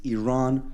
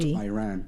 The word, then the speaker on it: Iran: the Iranian people but you're pronouncing our country's name wrong a country is named Iran not Iran and once and for all let's get this